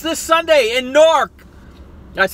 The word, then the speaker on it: Newark: But we say in the Southern Jersey, we say Newark. Because we pronounce our syllables. We enunciate.